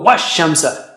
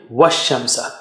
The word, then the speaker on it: وَالشَّمْسَ: help, in severe need, shadda, stronger help. So you got to go wash shamsa. You don't say wash shamsa. Okay, wash shamsa.